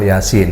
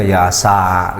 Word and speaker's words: Yasin: dan sini Iya kan masih ada juga yang membacanya Yasa gitu keliru Kenapa Kan itu huruf